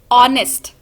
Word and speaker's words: honest: we not pronounce it as harnessed when we pronounce these this word we say honest so in the beginning of that word a